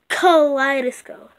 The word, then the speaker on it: Kaleidoscope: You can't like pronounce the D a lot good, like Kaleidoscope. Yeah, like that.